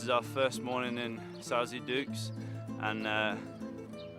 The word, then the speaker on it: Sauze d'Oulx: So this is our first morning in Sauze D'Oulx, and it's Sauze D'Oulx.